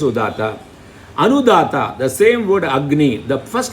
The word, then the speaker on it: Agni: Agni. Fire is the word. In Agni is the word. Ni is always stressed.